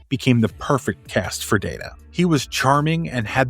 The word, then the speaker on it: Data: During the very first table read, Spiner thought the name was pronounced Data, but Patrick Stewart said it must be Data because of his polished British diction. However, Roddenberry announced a new rule that whichever pronunciation is mentioned on set for the first time will be the official pronunciation of Data.